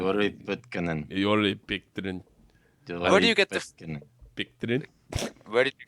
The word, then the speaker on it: Pitkänen: Joni Pitkanen.